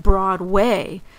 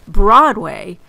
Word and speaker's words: Broadway: older New Yorkers who still call it Broadway with the accent on the way instead of Broadway with the accent on the broad as we say it today.